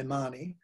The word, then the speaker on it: Mahoney: wonderful book about Marion, I imagine it's pronounced Mahoney being American. I would normally say Marnie, but Glenda Corporal wrote a book about Marion Mahoney and her relationship with Walter Burley Griffin.